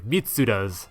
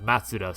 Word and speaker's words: Mitsuda: out to me that i had accidentally mispronounced uh yasunori mitsuda's name as matsuda so there it is